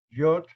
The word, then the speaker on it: Yod: El segundo nombre de Dios, Yod, Lamed, Yod. O sea, la Yod tiene una pronunciación cerrada después de Yud. Mucha gente pronuncia Yud, Lamed, Yud o Yod, Lamed, Yod.